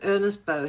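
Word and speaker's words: Ernest Beaux: B A you don't pronounce the X in French. His name was Ernest Bow.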